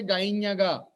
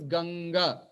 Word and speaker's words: Ganga: But you never say Gainyaga. It is not Gainyaga, it is Ganga. What we are telling there? Ganga. Kakagaganga. Kakagaganga. It is actually a nasal letter.